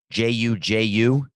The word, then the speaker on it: JuJu: name is it is i was gonna say it's juju but that seems not nice how to say the name but that's how to say it okay his name is juju and uh do you